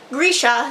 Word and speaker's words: Grisha: get a passport a Grisha vers passport which Leigh bardugo was saying Boresha so I've only been saying it wrong all these years a